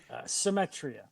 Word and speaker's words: Symetria: And we've got Vince, and I don't want to butcher the same the the pronunciation. How do you say the band's name? Symmetria.